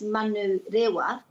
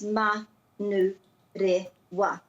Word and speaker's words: Manurewa: the vowels and to put a break after every vowel, so that a place name such as Manu Rewa is Manu Rewa, and it isn't Manurewa.